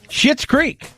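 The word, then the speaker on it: Schitt's Creek: serious condition also trending shit's creek yes i didn't say it like that that's an actual name s-c-h-i-t-t-s creek crushed it won the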